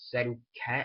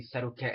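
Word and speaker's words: Setauket: protect the city of sedat I believe how you say it's the name set Cat s e t a u k e t um cuz basically settat is basically somehow in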